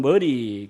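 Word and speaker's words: Murray: 그래서이 존 머레이 혹은 존 머리 교수가 스텔랜드인들은 다 머리라고 발음을 해야 되죠.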